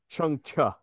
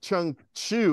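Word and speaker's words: Chang Cheh: on the blue rays and he says it's pronounced chuncha not like not like Chun Chu it's just like CH like you know you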